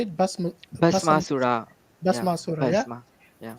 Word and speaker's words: Bhasmasura: Same like Shiva giving the power to Basmasura, sorry, how you say it? Bhasmasura.